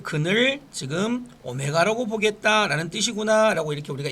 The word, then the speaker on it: 오메가: 한 허근을 오메가라 할 때, 자 이렇게 부를 때 W가 아니고 오메가라고 읽으면 됩니다.